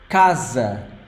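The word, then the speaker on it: casa: masculine word third word Kaza Kaza again this s s sound like z k z k notice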